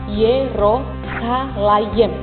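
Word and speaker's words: ירושלים: Kata Yerusalem dalam bahasa Ibrani itu diucapkan Yerosalayem.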